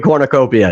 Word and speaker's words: cornucopia: Do you pronounce the U? Yeah, it's like its own syllable.